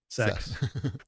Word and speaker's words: CeX: sex shop the uh that's what their video game stores are CeX but it's oh pronounced sex uh so yeah oh